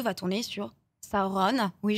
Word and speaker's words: Sauron: 2 va tourner sur saoron Oui je dis saoron parce que c'est la prononciation vous disez tous Sauron mais c'est çauron et alors nous on